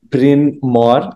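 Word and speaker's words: Bryn Mawr: to mispronounce this but Brin Mo College um brinmore College perfect okay I'm glad I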